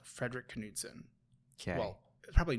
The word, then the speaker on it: Knudsen: But I will say there's a YouTube channel called Frederick Knudsen. Okay. Well, probably Knudsen, but I always pronounce the K because it's easier to search.